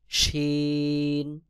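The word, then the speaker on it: شين: scene তারপরে রয়েছে শিন জিহ্বার মধ্যখান তার বরাবর উপরে তালুর সঙ্গে লাগাইয়া শিন উচ্চারণ হবে যেমন শিন শিন সদ জিহ্বার আগা সামনের নিচের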